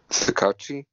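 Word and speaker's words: Tsukauchi: ever costumed detective, whose name I can't pronounce, Chishuke. All Might's best friend. Yeah. Gary, what's your pronunciation? That's really good. Sukachi.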